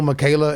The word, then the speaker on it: Miquela: Lil Michaela is the Lil Michaela. So and Michaela, let me spell that out because it is a little unique. It's at Lil Michaela, so LIL, and then it's MIQUELA.